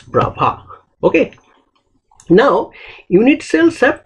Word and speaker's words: Bravais: It is written, the spelling looks like Bravais, but you have to pronounce it as Bravais.